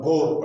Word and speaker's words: Bohr: तो बोहर atomic model जिसका pronunciation बाद में बोर पढ़ते, बोर, लेकिन हम बोहर पढ़ते आदि हैं तो इसलिए हम बोहर पढ़ेंगे।